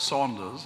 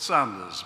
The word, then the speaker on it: Sanders: I'm not called Saunders, I'm called Sanders, but we all suffer these fates from time to time.